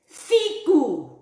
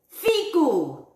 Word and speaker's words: figu: Italian, in my Haratano, the way that we would say fig. Are you guys ready? You ready? Figu. Figu. Watch how you say it, huh? It's not that other word.